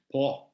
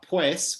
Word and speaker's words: pues: those words, they say por and pa instead of por and para. And of course, there's also the word pues, which in Chilean is famously po.